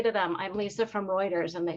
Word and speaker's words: Reuters: you apply to reuters um know how to pronounce reuters because lots of people say reuters that's right even when i say to them i'm lisa from reuters and they say oh reuters that's that's fantastic i love that um we